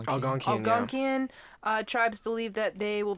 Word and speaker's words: Algonquian: Northeast what's the proper way to say it? Algonquian. Algonquian.